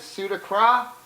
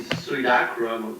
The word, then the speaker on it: Suidakra: they're gonna fix it for me but my pronunciation which is bad as pseudo crop yeah it is the little requisition should be sweet akram Wilson accra it's cool i get i don't